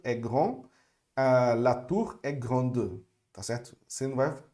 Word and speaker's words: grande: Então, normalmente no feminino, a gente vai pronunciar a última consoante, tá certo? Vocês viram no lugar, no caso do grande, né? Então, le fleuve est grand, la tour est grande, tá certo?